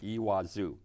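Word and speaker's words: Iguazu: e in the J like a w I guess and you put the accent on the last part ii wazoo and these Falls are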